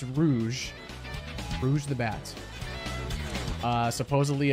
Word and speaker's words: Rouge: That's Rouge. Not Rogue. It's Rouge.